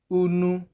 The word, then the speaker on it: unu: Unu is the example you can see there. Unu. You can hear the vowel sound U at the beginning and at the ending of the word unu there.